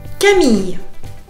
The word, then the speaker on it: Camille: On prononce pas le e de Camille.